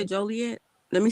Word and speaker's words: Joliet: do you say it joliet let me say it right because they're trying to correct me and stuff you said it right but you know the people that live there say jolly yeah oh yeah that's